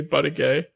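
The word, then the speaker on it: Buttigieg: okay that yeah that our producer in was trying to say his name and he said Pete buddy gay someone like CNN or something say buddy gay but but buddy gay but he did the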